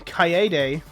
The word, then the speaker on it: Kaede: Or how they pronounce it in the game, Kaede.